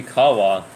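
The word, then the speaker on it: Ḥawwah: This is, the H's are, it sounds like a K. It has a little dot under the H. Yeah, it has a dot under the H. It means K.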